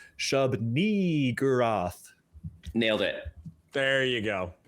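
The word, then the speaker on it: Shub-Niggurath: You really got to hit and extend that second syllable, and it needs to have an E sound. I will demonstrate. Shub-ni-gurath.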